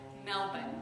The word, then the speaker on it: Melbourne: at M excuse me the Australians pronounce it Melbourne I'm told Bri Brian was very